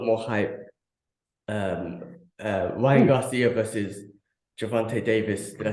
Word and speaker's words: Gervonta Davis: Ryan Garcia versus Gervonta Davis. Did I say his name right? Yeah. Gervonta Davis, yeah.